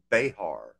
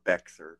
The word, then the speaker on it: Bexar: The Texas Eagle currently ends in Bexar County, or Bexar for those that don't say it right, San Antonio, where it then joins with the.